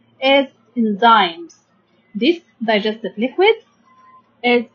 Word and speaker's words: enzyme: Okay, we can divide the word enzyme into 2 syllables. N. Then we have, and then Y makes the sound like I. Okay, like long sound for the letter I. Enzymes. Enzymes. Okay.